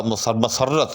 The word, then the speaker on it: مسرت: رفعت ہے نہ کہ رفعت۔ نام رکھا تھا مسرت، میم پر زبر کے ساتھ، اور مسرت کر